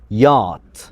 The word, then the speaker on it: yacht: الكلمة دي نطقها يات. يات.